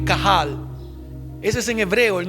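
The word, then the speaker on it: קהל: Israel en hebreo y es cahal se escribe q a h a L cajal Ese es en hebreo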